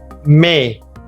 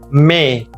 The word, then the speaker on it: mais: May. May. It sounds like a month May, which means but. May. There is a letter S at the end which we are not pronouncing.